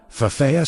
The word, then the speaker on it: Ephphatha: The correct pronunciation is 3 syllables. Fafea, say it slowly.